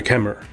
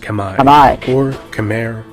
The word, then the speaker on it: Khmer: The Khmer, correctly pronounced Khmer, or Khmer in English, are an ancient people whose culture became heavily Indianized in the region's prehistory.